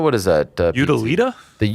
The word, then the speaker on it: Utilita: They are fighting at the, what is that, the Utilia Arena? How do you say that? The Utila, what is that? Utilita? The Utilita Arena in Birmingham, in the West Midlands.